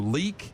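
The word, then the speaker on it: Leick: So, this uh construction crew, Leak, L E I C K, I think is how you might pronounce that. Leak Construction there in Glenwood, Iowa.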